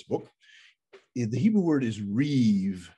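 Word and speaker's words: ריב: the hebrew word is reeve it looks like rib r-i-b pronounced reeve and that word is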